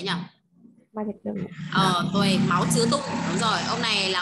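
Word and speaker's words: 毛泽东: Tuổi Máu Chứa Tung, đúng rồi. Ông này là ông Mao Trạch Đông đấy ạ. Tên tiếng Việt là Mao Trạch Đông. Tiếng Trung sẽ đọc là Máu Chứa Tung nhá.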